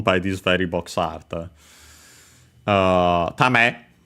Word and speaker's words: 為: Tame, accent on the last mora, and yeah, we have already found this term because it's quite important.